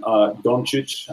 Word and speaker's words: Dončić: I mean, I spent the last probably 48 hours just sort of cramming tape on Dončić, I think is what I found out his pronunciation on it.